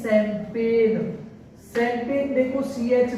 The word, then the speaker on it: champagne: इसी तरीके से बहुत सारे वर्ड हैं, जैसे हमने एक और वर्ड देखा CHAMPAGNE, इसको पढ़ते हैं शैंपेन, शैंपेन देखो CH स से शुरू हुआ, इसलिए ये फ्रेंच वर्ड है।